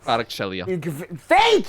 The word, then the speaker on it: Kvaratskhelia: Kvaratskhelia. Thank you. That was a great pronunciation.